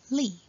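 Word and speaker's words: 立: On the left, the first Chinese character is pronounced as Li, and it takes the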